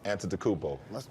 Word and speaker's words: Antetokounmpo: Pronounce Giannis's last name. Giannis Antetokounmpo.